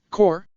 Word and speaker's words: corps: stealth corps orim said isn't it a funny word core it is spelled almost exactly like corpse but it sounds totally different tatsuki counted them there